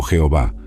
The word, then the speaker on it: Jehová: realidad y a hh Generalmente pronunciado como yahvé o Jehová este nombre revelado a